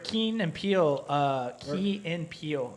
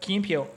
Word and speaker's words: Key and Peele: But there's a sketch where Keen and Peele. or How do in you pronounce Germany, that? yeah, Key and No. Peele. What Key and Peele?